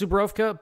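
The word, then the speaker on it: Żubrówka: But anyways, the Polish Party drink is apple juice and Zubrowka bison grass vodka. It's pronounced Zubrowka, but the V is actually a W.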